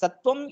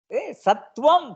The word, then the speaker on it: सत्त्वम्: सः सत्त्वमेकत्वं च अवगच्छति सत्त्वं पूर्णतया उच्चारणं करोतु तत्र किमपि सन्देहः अस्ति वा सत्त्व सत्त्व किमर्थं सत्त्वं सत्त्वं नपुंसकलिङ्गपदं तद् प्रथमाविभक्तिमध्येपि सत्त्वम् अनन्तरं